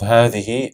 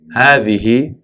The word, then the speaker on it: هذه: هذه is written with a ha, dal, ha, but the way it's pronounced is as if there's an alif that's added after the ha. So we say هذه, not هذه, right? We stretch the ha, هذه.